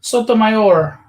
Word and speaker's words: Sotomayor: recently on my show sotomayor that's how you say it so here's the colored